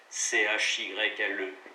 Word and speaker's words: chyle: Prononciation C-H-Y-L-E, chyle.